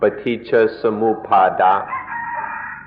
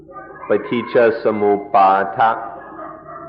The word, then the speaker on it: paticca samuppada: Paticca samuppada. In Thai, the pronunciation is a little shorter, paticca samuppada. But in the Pali, it's more like paticca samuppada.